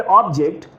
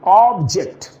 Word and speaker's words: object: जब इस वर्ड को हम नाउन के रूप में कहेंगे, the pronunciation will be ऑब्जेक्ट. ऑब्जेक्ट, listen to the pronunciation very carefully, ऑब्जेक्ट.